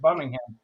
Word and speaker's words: Birmingham: And then we want to get on the Amtrak and go to Birmingham, because that's how they say it, Birmingham.